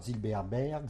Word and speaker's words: Zilberberg: et date de naissance voilà je m'appelle Zilberberg Zilberberg s'écrit Z i l B r B G